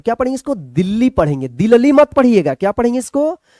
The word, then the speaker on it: दिल्ली: दिल्ली मत पढ़िएगा, क्या पढ़ेंगे इसको, दिल्ली पढ़ेंगे, ठीक है।